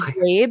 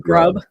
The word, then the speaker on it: Grabe: So and I have heard it is Grabe. It is pronounced Grabe. I thought it said, I mean, not to be rude. I'm not trying to, but my you mind almost said grub. Yeah, no, it's Grabe.